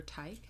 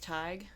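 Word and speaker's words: Tadhg: on TikTok, Teaching with Tig, but his name looks like Teaching with Tad, or Tad, whatever. Gosh. But it's Tadgh, I think. And it's pronounced what? Tig.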